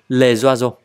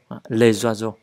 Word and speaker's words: les oiseaux: Đấy, đọc là Z nha các bạn. Les oiseaux. Les oiseaux.